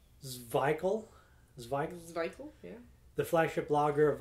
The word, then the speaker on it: Szwickel: So this says here, pronounced Szwickel, yeah.